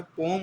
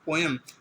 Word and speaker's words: poem: अच्छा, पोम और पोएम, बहुत से लोग पोएम पढ़ते हैं, बहुत से टीचर्स को ये बात नहीं पता होती, पोएम नहीं पढ़ना चाहिए, पोएम गलत होता है। असल सही प्रोनाउंसिएशन पोम है, POEM, पोम, ठीक है।